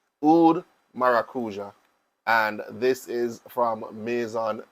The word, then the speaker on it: maracuja: which is oud maracuja I've heard I've heard pronunciation such as oud maraqua I don't speak French I don't speak any other language except English Standard English so I am going to pronounce it as I see it fit oud maracuja and this